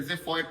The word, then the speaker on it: xiphoid: Let's say xiphoid process. Xiphoid process. It is spelled X for xylophone I P H O I D.